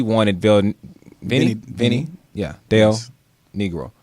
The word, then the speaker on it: Del Negro: Bill Vinnie Vinnie yeah Dale negro yes Vin negro that's how he pronounced it's not Vinnie negro no I just been